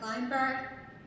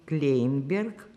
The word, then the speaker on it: Kleynberg: I am interviewing Maya Kleynberg.